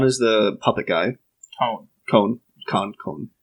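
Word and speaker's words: Kon: Khan is the puppet guy. Cone. It's spelled with a K.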